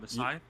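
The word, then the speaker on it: Masai: The guy who traded Lamar Messiah. Uh Messiah, that's how you pronounce it.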